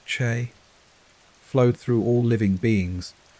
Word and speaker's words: Qi: The vital force known as Qi pronounced CH flowed through all living beings and maintaining health meant ensuring the free flow of Qi without blockages or excesses.